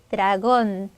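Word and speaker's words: dragón: 얘는음을 분해한 것만 기준으로 힘은 여기다가 드라곤 드라곤 해주시면 되겠죠이 발음 조금 어려운데요 자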